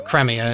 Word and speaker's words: Cremia: Yeah, her name is Creamy, I was right. Or Cremia, it depends on how you want to pronounce it.